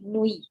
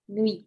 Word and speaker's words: nuit: Do nuit नहीं, nuit, nuit. Nuit.